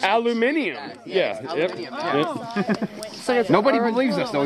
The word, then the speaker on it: aluminium: the United States guys aluminum that's not how it's pronounced though its aluminium yeah nobody believes us